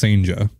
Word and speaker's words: Cijntje: Yeah, it's Cijntje. Yeah. Yeah. According to the Mariners pronunciation guide, it's Cijntje.